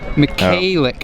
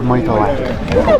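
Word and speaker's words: Michalak: Skylar McCallick, I think. Sorry. One of these days she'll come over and talk to us and tell us the pronunciation. Yeah. And then Doobie, like we said before. Skylar Michaelak. Skylar Michaelak. All right, we have confirmation on that now.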